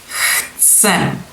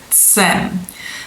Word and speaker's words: chcem: So the ts is more like imitation of some kind of insect, right? So maybe a cicada.